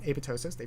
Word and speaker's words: apoptosis: have heard of apoptosis not supposed to pronounce that p it's apoptosis it's a greek word but anyways um neurons have undergone apoptosis they've undergone death cell